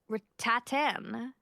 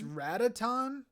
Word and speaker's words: Ratatan: This game is called Rattatan. Rattatan. it's Ratatan. Ratatan.